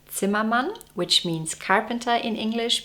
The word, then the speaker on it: Zimmermann: no way that I could not mention Elizabeth Zimmerman in a video like that. Although she is usually called Elizabeth Zimmerman, her last name is actually pronounced Zimman, which means carpenter in English because her husband was from Germany.